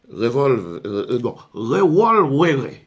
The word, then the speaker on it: revolvere: Révolution qui vient du verbe revolvere. C'est comme ça que le latin se prononce.